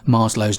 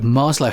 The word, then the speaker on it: Maslow: how to pronounce Abraham Maslow's name. Lots of people call it Maslow, and some people, recognizing that it's a Russian or Eastern European name, will pronounce the W as a V, Maslow.